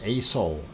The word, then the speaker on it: Aso: And that is ASO, ASO, the way it's spelled, ASO-san in Japan.